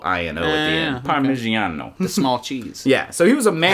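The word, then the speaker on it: Parmigianino: Yeah, Parmigiano, which actually stands for the little one from Parma. Theano. Yeah. Yeah, Parmigiano. Yeah. It's the Italian, so it's Parmigiano. Okay. But anyway, It sounds like Parmesan.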